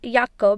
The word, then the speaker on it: Jake: i read jake as yucca because in german language j is not pronounced as jo but it is pronounced as yo let's move on to